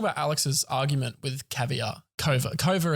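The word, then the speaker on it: Kouvr: Kova is how we finally figured out how to pronounce the name.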